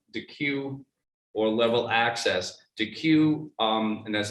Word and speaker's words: Deque: DeQ, and that's spelled DEQUE, has something called DeQ University that